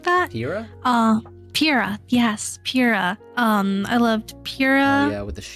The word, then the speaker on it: Pyrrha: I really loved I can never remember how to pronounce her name. Priya, something like that. Pyrrha? Pyrrha, yes, Pyrrha.